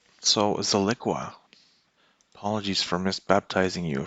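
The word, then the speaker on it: Zilliqa: zone right here for Zilquilla. What is the name of that? I have the impression that I'm not saying it right, so let's correct that right away. Ziliqua.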